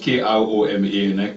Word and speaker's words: Kroma: My Koma, fortunately, is spelled K-R-O-M-A, not K-O-R-O-M-A. So I'm Kroma.